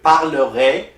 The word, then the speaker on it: parlerai: So for je, AI is pronounced A. And like I already told you, easy at the end is also pronounced A. So you say, je parlerai, vous parlerez.